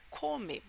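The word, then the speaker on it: κώμη: Polis né A agora a palavra povoados ela é é pronunciada come né em grego come que significa Campo não é e a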